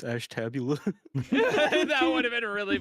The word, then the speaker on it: Ashtabula: We If you also said like Ashtabula, the- it's like, no, it's Ashtabula.